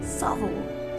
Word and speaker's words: Southwell: software in the world say it with me Savile supple it grows on you I promise Savile you